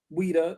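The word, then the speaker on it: Ouidah: Now they call it weda. Now it, you know, you look it up in Wikipedia, they spell it o u i d a h.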